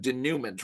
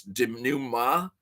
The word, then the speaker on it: denouement: Okay, am I pronouncing denouement wrong? It's denouement.